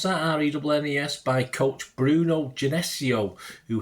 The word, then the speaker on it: Rennes: was nurtured at Rennes, is it how he's pronounced that? Rennes, by coach Bruno Genesio, who helped develop Real's Ferland Mendy, of course, under Genesio at Le Havre.